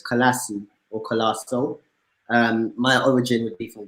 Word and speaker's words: Colaço: So it's in the UK, it's just pronounced as Colaço. That's how they like to say it, and I'm okay with that. The origin of the name is from Portugal originally, so it's Colaço or Colaço.